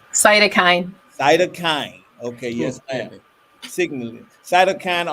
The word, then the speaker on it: cytokine: She did her graduate research in, and help me with this pronunciation. Cytokine. Cytokine.